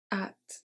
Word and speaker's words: hâte: J'ai déjà hâte. So here the H and the final E.